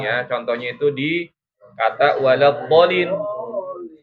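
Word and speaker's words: ولا الضالين: Contohnya itu di kata waladdallin. Itu bo-nya dibacanya 6 harokat atau 3 ayunan.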